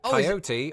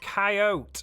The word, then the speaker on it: coyote: each of those occasions I never fail to pronounce it with three syllables but as I discovered this week my fellow Americans don't always follow shot in a Paul posted to my YouTube Community section more than 30,000 respondents told me how they pronounce it coyote or coyote curiously more than oh